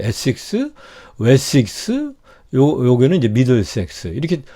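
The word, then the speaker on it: Essex: 그래서 지금도 이 에식스라고 발음하더라고요. 에식스, 웨식스, 요게는 이제 미들섹스.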